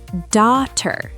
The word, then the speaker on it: daughter: Daughter. Silent gh.